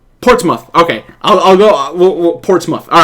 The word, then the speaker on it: Portsmouth: okay, it is Portsmouth. All right. It's just Portsmouth. Okay, I'll go Portsmouth.